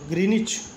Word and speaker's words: Greenwich: Since it passed through the British Royal Observatory is Greenwich in London, it is also called Greenwich और pronounced करते हैं ग्रीनिच के नाम से meridian.